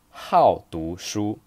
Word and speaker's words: 好读书: Phrase number three, 好读书. You notice here the tone is the fourth tone because 好, this character, is a polyphone.